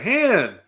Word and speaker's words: Han: a good point too Lando does mispronounce H's name that's right han han hand instead of Han I I feel like